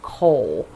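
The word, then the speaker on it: kohl: you go to the first color which is coal so coal for me spelled with a K not not the stuff you do in your furnace is k-o-h-l uh so for the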